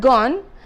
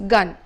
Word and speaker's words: gone: the next example is the word gone where the vowel sound is shortened and therefore it becomes gun he had gun there I'm